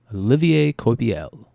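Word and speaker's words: Olivier Coipel: thank you for that James puts it phonetically Olivier koi PL Olivier kobiel oh that's right there you go yeah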